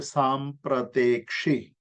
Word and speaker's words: सांप्रतेक्षी: इक्षी मतलब देखना, उसकी संधि हुई सांप्रत और इक्षी को, दोनों को मिला करके एक शब्द बना जिसका उच्चारण होता है सांप्रतेक्षी।